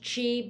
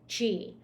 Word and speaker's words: Qi: take a hit so this energy is called Chi it's it's um pronounced Chi but it's spelled Qi Chi so it's believed the